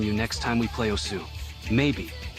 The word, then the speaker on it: osu: I'm I'm playing Musu right now. Jonas couldn't help but chuckle at your pronunciation. You mean osu, right? You keep saying musu. It's osu. Okay.